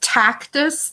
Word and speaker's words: Tactus: you say the name of the application and spell it and say where you can get it people are asking yeah it's tactus therapy TAC tus therapy and she has a